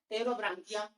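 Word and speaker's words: Pterobranchia: ये दो क्लास, पहला क्लास है इंटेरोप्निस्टा, पहला क्लास है इंटेरोप्निस्टा, दूसरा क्लास है टेरोब्रांकिया, इसमें पी साइलेंट है।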